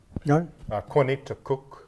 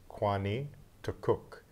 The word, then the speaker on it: Kwanituk: Kwanituk is the way we would say it. It's Kwanituk. And what you have is, the first part of it is quin, which means long, could also mean tall, just has something to do with a length, quin. And a connecting sound, quini, that I has no meaning. Tuk comes from the word for wave.